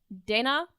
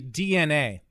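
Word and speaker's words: DeNA: the answer this one it's actually DNA oh what the yeah it's DNA why would you why would you print it like that if it was meant to be pronounced DNA I I think I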